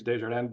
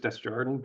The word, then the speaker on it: Desjardins: It's the traditional pronunciation is Desjardins, but it's just Desjardins, been anglicized over the generations.